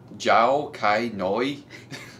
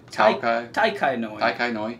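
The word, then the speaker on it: Tao Kae Noi: It's Jiao Kai Noi. Can you pronounce that? I'm thinking it's a T. Oh, is that a T, not a J? Tai Kai Noi.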